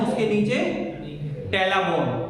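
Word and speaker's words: patella: bone है उसके नीचे टेला बोन टेला क्या बोलते है इसको साइलेंट है टेला ठीक है तो ये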